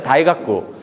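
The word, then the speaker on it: 大学: 대학이라는 말도 일본말로 하면은 다이가쿠.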